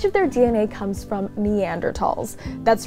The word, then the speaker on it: Neanderthal: Yeah, so Neanderthals are actually named after the Neander Valley in Germany where their bones were first discovered.